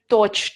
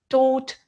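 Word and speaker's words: caught: teach thought thought catch court court please pay attention to the pronunciation never say torch torch and coach coach the correct pronunciation is tote tote and coat coat the same for the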